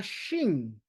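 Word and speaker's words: שין: Está la Shin, Shin, que hay que cerrar la boca, pero no los labios. Shin. Los dientes están pegados unos a los otros, los de arriba y los de abajo.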